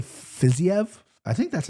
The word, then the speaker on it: Fiziev: But Joe's taking Fiziev.